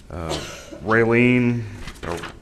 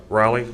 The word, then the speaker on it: Raleigh: of Galveston, Galveston, Texas City of College Station, Raylene County. Raleigh, I must say it right, yeah.